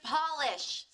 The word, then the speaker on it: Polish: 그냥 O 발음이 아니라 O, 같은 소리가 나야 된다는 걸 생각해 보시면서 Polish 기억해 주시고요.